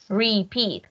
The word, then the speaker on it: repeat: Digo repeat, ¿cómo suena la E, la A? A una I.